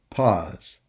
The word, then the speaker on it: pause: but you pronounce it pause. Here, A plus U equals O. You should say pause. And remember, we said S between 2 vowels gives a Z sound.